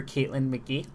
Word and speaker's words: Caitlin McGee: the realm of Smash so I have Dr Caitlyn McGee did I mispronounce that name NOP you got it right